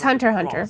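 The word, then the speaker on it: Hunter × Hunter: Oh, I was just thinking about, is it Hunter X Hunter or It's Hunter x Hunter. Cross? Okay, it's Hunter x Hunter. The X is silent.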